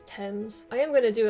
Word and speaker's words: Thames: somebody tell me that it's not pronounced tames as thames i am going to